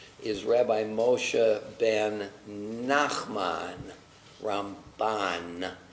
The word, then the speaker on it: Ramban: And to make a distinction as we say it, because M and N can sound similar, we say about Maimonides, Rambam, emphasis, accent on the first syllable, Rambam. But Nachmanides is Ramban. So that helps us to distinguish the two.